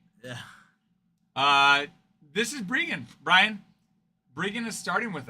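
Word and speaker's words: Breggan: But it's pronounced Brian, right? It's pronounced Brian, but it's spelled Rean.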